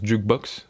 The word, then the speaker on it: JQBX: Sinon, Jukebox, enfin JQBX, mais je suppose que ça se prononce Jukebox, ils le disent eux-mêmes, hein.